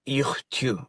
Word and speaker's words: Iuj Tiut: better than me because I always put the T at the end, but it's like a Q. There's no T. Iuj Tiut.